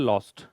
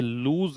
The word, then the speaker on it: lose: लूज की third form है लॉस्ट, LOSE लूज, LOST लॉस्ट, LOST लॉस्ट। और इसका प्रोनाउंसिएशन भी ध्यान रखिए, ये लूज है, लॉस नहीं है।